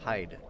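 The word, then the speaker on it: Heide: I don't know why people pronounce it as Heidi. It's Hyde. Do you not know about silent letters?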